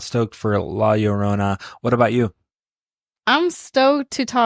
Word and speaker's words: La Llorona: Richard, can you pronounce it now? La Llorona.